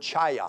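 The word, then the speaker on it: חיה: word revive here is the hebrew word chaya it sounds like a karate word like a kid would do it that's not what it means it's not a karate kick or anything like that but it sounds that way but it's c-h-a-y-a-h is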